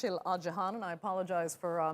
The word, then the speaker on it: Isil Acehan: those mix-ups in the Ottoman Empire okay it's Shailaja Hana I apologize for mispronouncing your name at the beginning there it's